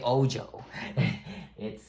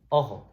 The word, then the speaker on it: ojo: So the J sound sometimes sounds like an H in Spanish. So, ojo, which means eye. Pay attention. All right. So, open, ojo.